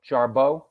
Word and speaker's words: Jarbo: Am I pronouncing that right, Bill? Jarbo? Yeah.